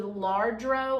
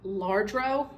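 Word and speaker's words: Lladró: is I don't know if anybody's familiar with larro I don't even think I'm saying it right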